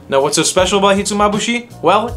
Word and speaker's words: hitsumabushi: on our list hitsumabushi this is a dish that took me about a week to learn how to properly say I couldn't pronounce it I would say Hudson hits a mabashi kiss on my boot he to me I couldn't say he to mabushii hitsumabushi is a Nguyen dish a classic